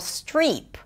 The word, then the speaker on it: Streep: Now, her name is pronounced Meryl Streep. Strip is a different word.